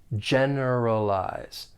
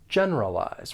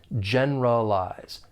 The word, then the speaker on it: generalize: comes to gen Z for pronunciation there are four syllables the stress is on that first syllable generalize generalize one one thing I'll say is that you may hear people say the word without that schwas sound and that schwas sound will alide and it's going to sound more like it has three syllables generalize generalize keep that